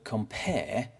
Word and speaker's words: compare: For example, the word compare is iambic because there's less stress on com and more stress on pair.